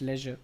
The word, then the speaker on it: leisure: it Leisure what do you think is the pronunciation of this word I think this leure it's Leisure because it is written over here so once